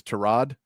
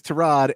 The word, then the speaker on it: Tyrod: said this week that Tyrod Taylor's name is Terrod.